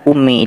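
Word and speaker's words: أمي: ada Umi maknanya Ibuku kalau ada ia mutakallim itu betul maknanya Ibuku dan bacanya panjang misal umi atau dihidupkan ya nya Umi nah ini baru benar maknanya Ibuku Makanya belajar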